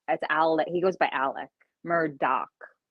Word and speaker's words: Alex: He goes by Alec, but it's spelled Alex. But everyone's like, "Is it Alex or is it Alec?" Either one, but it's Alec.